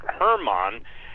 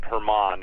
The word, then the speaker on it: Hermon: It's pronounced Mount Hermon, HDL with a long R, I guess, Hermon.